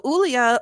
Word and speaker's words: Ulia: So Ulia, who, by the way, we're pronouncing her name like that for a reason. She is, I don't know if she is a German immigrant or she's just the daughter of German immigrants, because her father is German and has a very thick accent. So yeah, her name is pronounced Ulia.